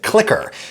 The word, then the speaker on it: CLCKR: But I happen to know that the actual people who own and operate this company pronounce it Clicker, and they happen to be the sponsor of this video.